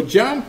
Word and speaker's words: JMP: tell you really quickly jump JMP I just just pronounced jump okay stands for John's